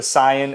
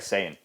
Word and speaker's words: Saiyan: to correct me truthfully I said super syian and he was like Saiyan what I'm saying it wrong Super Saiyan you're saying